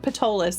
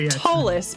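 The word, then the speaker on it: Ptolis: tallest it is tallest when you said patolis sorry it's pronounced tallest but it's got a p in front of it and i know why you said it that way now okay yes that is exactly the game p-t-o-l-i-s yep um yeah but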